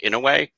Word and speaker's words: Inouye: Like, by the way, the senator's name is pronounced Inouye, and that the two people that were involved